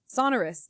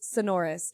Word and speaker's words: Sonorus: And she said Sonoris. And I was just like, "Oh." And then I asked someone and she was just like, "No, it's Sonorus."